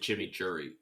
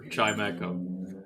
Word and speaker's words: Chimecho: I've been pronouncing it like a sauce until just now. Like I kind of just called it chimichurri. So no one cares if there's a mega for Chimecho.